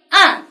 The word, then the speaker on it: 岸: 前鼻音模发音，岸和岸，岸。